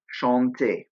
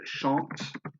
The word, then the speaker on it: chante: Chanter. Lastly, the they form, il chante, elle chante. Now you'll notice there's an ENT at the end, but it is silent.